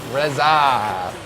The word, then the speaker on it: Resogun: Resogun, how do you guys pronounce Resogun? Resogun. Reza. Good. Like the RZA.